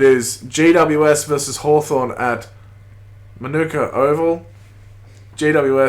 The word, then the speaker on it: Manuka: these ground names C you know the Tre is pronounced Mana but I guess I think the place might be pronounced manica in Australia man I don't know I think it's Monica mate we'll get there one